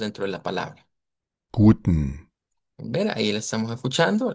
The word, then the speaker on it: guten: Entonces, guten. No debemos meter esa E ahí de por medio, no es como decir ten, sino que no solo guten.